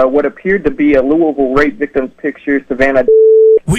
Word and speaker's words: Louisville: appeared to be a Louisville rap victims picture Savannah well you know what's so funny about that is that's Lewisville is how we pronounce it here and lewisville's very close